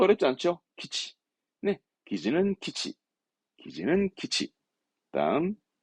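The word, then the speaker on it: 基地: 기지 군사기지 기지죠 다른 거 어렵지 않죠네 기지는 키치 기지는 키치 다음 야 뒷글자 어려울까요 아니요 봐봐요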